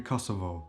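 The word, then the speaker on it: Kosovë: Let's take for example the name of the country Kosovo. Kosovo in Albanian is called Kosov. So the last syllable is stressed and the indefinite form kosov.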